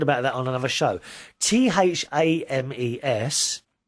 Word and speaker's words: Thames: that on another show t-h-a-m-e-s is actually pronounced thames and you you you actually spell it phonetically there t e m zed thames that's how you say